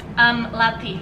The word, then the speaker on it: Lathi: How do you pronounce that? Lati.